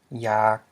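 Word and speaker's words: ຢາກ: This is a low tone because you have a mid vowel, y, followed by a live a live followed by a live syllable.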